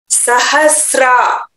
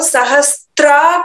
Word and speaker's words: सहस्रा: प्रयुंजानो इदमथर्व शीर्षम शिष्यायन देयम् सहस्रा, यहां हिंदी में आपको सहस्त्रा करके लिखा होगा आपके बुक में, लेकिन यहां सहस्रा करके उच्चारण करना चाहिए, सहस्त्रा नहीं है।